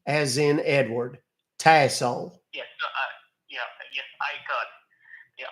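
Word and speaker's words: Tassole: and then my last name is pronounced tle it's French uh t uh t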